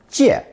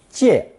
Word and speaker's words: 介: It's pronounced fourth tone. 借, 借.